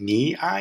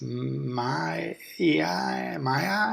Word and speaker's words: miai: And miai is tough for me because M-I-A-I and me-I, it doesn't compute, but I think I can remember it. But in my mind, I almost have to spell it differently to be able to pronounce it that way. If I picture it in my mind as M-I-A-I, it's my-I, and I know that's not right, and it just confuses me.